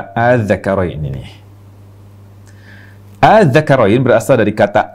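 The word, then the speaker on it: ءَآلذَّكَرَيْنِ: Jadi ini panjangnya 6 harokat. A panjang 6 harokat. Adz-dzakarain.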